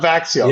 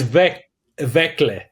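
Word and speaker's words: Växjö: Yeah, it's not Vaxio. Yeah. No, it's not Vaxio. It's Vekle. But there's no L.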